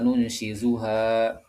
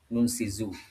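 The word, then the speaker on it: نُنشِزُهَا: Albaqarah juga ilalmi kaifa nunsyizuha di bacaan Asim bacaan kita Ibnu Amir Hamzah dan alqisai menggunakan huruf zar Nunsizu.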